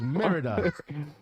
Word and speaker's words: Merida: That's how it's spelled. It's Merida.